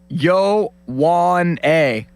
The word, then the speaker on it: Ioane: Yeah, it's in the pronunciation guide as Vang, V-E-N-G, it's Yowane. Yowane.